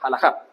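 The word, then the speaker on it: halajá: judía o rama como tal significa jalaja se pronuncia esto de acá jalaja os están divididos en cinco grandes grupos grupo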